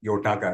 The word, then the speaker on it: Yotaka: So I was following your stint with Yotaka, right? Yeah. So I'm pronouncing it right? Yotaka. That's right. That's right.